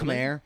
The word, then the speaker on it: Khmer: I don't know how to pronounce that correctly. I think you got it. I think you nailed Khmer.